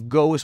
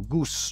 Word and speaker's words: goes: también, porque el verbo go es un verbo irregular, y no ponerle una E ahí sonaría un poquito raro, goose. Entonces decimos goes, se pronuncia con una Z, goes.